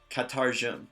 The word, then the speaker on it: katarjum: So, what's your name in Nuráma is pronounced katarjum. Repeat after me. Katarjum. Katarjum. Good. And try it a little bit faster as kind of one sound.